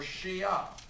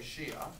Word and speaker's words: Shia: would the other group is the Shiites or Shia sh sh a I will take either on the test you can say sh sh a Shia or sh h i t s be careful